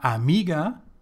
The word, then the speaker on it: amiga: L for plural La Amiga to say the friend so here with got with this word we have the stce on the second syllable me aiga so we can use